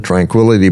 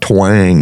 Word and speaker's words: tranquility: So he said, Houston, Tranquility Base here, the Eagle has landed. Well, I'm so excited I couldn't even pronounce tranquility. It came out twang. Twang.